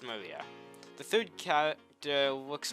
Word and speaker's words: Maria: her name is written of course it is pronounced maria the third character looks like a cross which